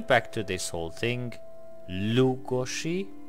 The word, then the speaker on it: Lugosi: to this whole thing lugozshe and of course the S is pronounced - much like in Portuguese so if you are